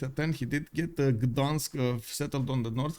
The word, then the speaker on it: Gdańsk: Gdańsk.